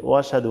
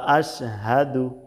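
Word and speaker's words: أشهد: আশহাদু আনা এখানে কিন্তু অনেকেই এরকম বলে থাকে ওশাদু আন্না তাহলে কিন্তু এই হামজাটা বাদ যাচ্ছে ওয়াশাদু আন্না ওয়াশাদু আন্না তো এখানে স্পষ্টভাবে বলতে হবে ওয়া আশহাদু ওয়া আশহাদু আনা বাংলা উচ্চারণ দেখুন ওয়া আশহাদু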